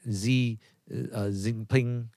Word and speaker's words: Xi Jinping: Chinese President, how do you pronounce that? Xi Jinping.